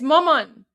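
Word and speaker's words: مامان: How do you say mom in Persian? It's maman. Maman.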